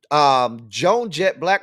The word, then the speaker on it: Blakk: And that Black is spelled Blakk.